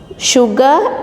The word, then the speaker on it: sugar: Sugar, salt, silly, sorry. Only as a sugar, here we are pronouncing sha sound and here it is salt S, silly S, and sorry S.